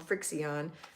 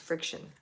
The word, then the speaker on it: FriXion: used to call them frixion because that's what it looks like it says but it's pronounced friction all right these are